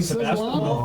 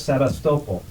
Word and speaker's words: Sevastopol: You know, like Sebastopol, Oh, that's why. Yeah. my Russian friend says, no, it's Sevastopol.